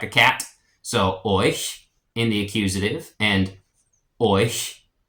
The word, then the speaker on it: euch: In the accusative, it's euch, euch. The EU makes a oi sound like in toy, and then the CH makes a sh kind of hissing sound like a cat. So euch in the accusative and euch in the dative.